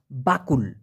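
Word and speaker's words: bakul: Malaysian ভাষায় বলা হয় বাকুল বাকুল আবার কেউ বকুল শুনেন না আবার কবুল শুনেন না বাকুল বাকুল মানে ঝুড়ি এটা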